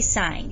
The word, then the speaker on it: sine: long way s-i-n-e but the abbreviation is just s-i-n with no e at the end so all of these are three letters but you still say sign you don't say sin